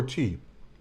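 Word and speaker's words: thee: Means It's tea. it means tea, but it's Dutch. T-H-E-E. Yep. Tea, like the, but with another e, and then it becomes tea.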